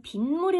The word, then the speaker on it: 빗물: 시 한번 볼게요 빗물 비와 물이 만났는데 에 b 모 리 라고 발음하지 않고 우리는 빈 무리 라고 발음 하자 미운 이건 났구나